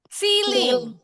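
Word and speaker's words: ceiling: Celing. Siling. Bacanya siling.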